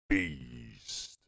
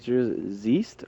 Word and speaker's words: z3east: Beast. How do we pronounce this? Z-east or Z-east? It's Beast.